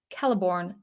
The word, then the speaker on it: Celeborn: C, for instance, C, the letter C, always has the value of k, never s. Thus, Celeborn is Celeborn, like you would spell with a K, not Celeborn, like you would spell with an S.